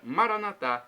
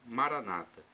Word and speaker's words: Maranatá: E temos agora Maranatá, do aramaico, dialeto de Jesus para o português, significa vinde, Senhor Jesus. Nossos irmãos evangélicos ou protestantes colocam a tônica na penúltima sílaba, Maranata. O significado é o mesmo.